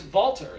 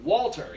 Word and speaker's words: Walter: came the conversation of why it's vaulter and not walter you know the pronunciation with the v on the end of the conversation of you know well that's how you properly pronounce it in his native tongue so you know these